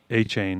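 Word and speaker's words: Achane: A-Chain.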